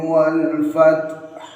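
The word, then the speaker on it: والفتح: pada akhir ayat 1 bacanya ialah wal fath. Cara bacanya jika diperlambat wal fath. Nah, itu kalau diperlambat. Tapi dibaca cepat wal fath. Setelah taknya disertai hamas, wal fath hanya diwakafkan, harus ada haknya. Huruf hak harus dibaca tanpa dihilangkan.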